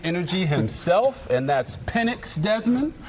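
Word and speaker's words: Penix: I'm here with Michael penx Jr Mr Big pinnix energy himself and that's pennix Desmond pronunciation is important in this moment I was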